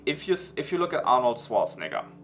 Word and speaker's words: Schwarzenegger: Like if you look at Arnold Schwarzenegger, or Arnold Schwarzenegger, that's how he's actually pronounced in German.